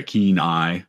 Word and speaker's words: Kenai: I mispronounced it as Kenai, and I knew I was saying it wrong as it was coming out. But yeah, keen eye.